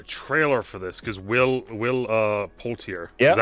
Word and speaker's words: Poulter: I think I've seen a trailer for this because Will Poulter. Yeah. Is that how you say his name? Poulter. Will Poulter.